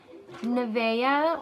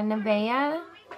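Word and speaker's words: Navya: Nevea, or yeah, Nevea, worthy of praise, but it's spelled N-A-V-Y-A.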